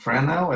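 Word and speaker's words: Fresnel: Oh, it's a name, it's a French name, It's pronounced Frenel. It's F-R-E-S-N-E-L, and S is silent.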